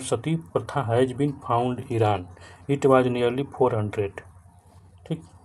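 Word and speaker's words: Iran: तो ईरानी पढ़ेंगे ना, ईरान की स्पेलिंग तो आई आर ए एन होती है, लेकिन इसको क्या पढ़ेंगे हम, तो ईरान पढ़ेंगे।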